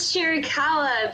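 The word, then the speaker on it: Chiricahua: about how do you say that that is chiricala that is the i would say main destination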